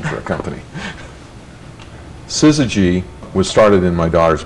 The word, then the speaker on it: Syzygy: to bother us and people call the suzuki and susie g and and we thought